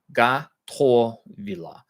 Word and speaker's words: Готовила: With Russian, the soft a or soft o, the unaccented o is pronounced a, and the accented o is pronounced o.